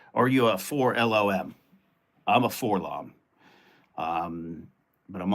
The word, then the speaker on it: 4-LOM: Bend is a 4-lom, not LOM, yeah. David McKay says they spell it out in the comics, so they call it LOM.